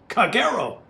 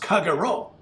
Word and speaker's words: Kagero: is be captain of Kagero tr9 Japanese destroyer and closed thick is pronounced kagero because is not pronounced kaguro for because if you